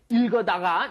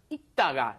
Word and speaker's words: 읽다가: So here, if you've got 읽다, which is to read, notice that you don't say 읽어다가. No. Just 읽다가. The 리을 발음 is not pronounced. There's no L sound.